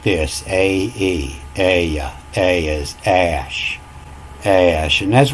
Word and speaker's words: Ea: In the Sumerian writings, it talks about Ea being the god of creation. It was Ea, and it's pronounced Ash.